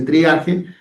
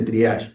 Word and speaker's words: triaje: la Real Academia Española, por eso en castellano se le dice triaje y en francés se le dice triage, ¿sí?